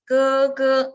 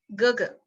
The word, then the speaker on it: 哥哥: Second one is without tone, just pronounce the syllable. And the stress is much less. You can see the difference. 哥哥, it's the wrong way. 哥哥.